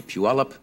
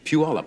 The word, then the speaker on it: Puyallup: If you are looking at these lovely flowers, I think these are sent, as they are every year, by the Puyallup Daffodil Festival in Puyallup, Washington.